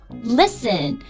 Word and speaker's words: listen: 嗯，首先 STEN 结尾的，比如我们很熟悉的 Listen Fasten T 都是不发音的，不要读成 Listen Fasten 这就不对。